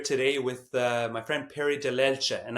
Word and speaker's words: Dellelce: with my friend Perry Dellelce, and I'm saying it properly the Italian way because when you're in our business, you're supposed to say it properly, although more commonly known as Dellelce.